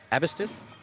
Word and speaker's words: Aberystwyth: Aberystwyth?